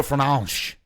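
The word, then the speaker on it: Fernandes: I say Bruno Fernandez because that's the way But he the way that they pronounce it in Portuguese is very funny. It's Bruno Fernanch. It's like Fernanch.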